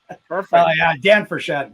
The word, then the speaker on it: Frechette: sure today's chat actually if you pronounced my name uh in the French way it's frechette good good enough okay